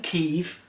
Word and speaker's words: Kyiv: I live in Kyiv, we know how to say it properly now, and it's quiet here now, except for the rockets and drones.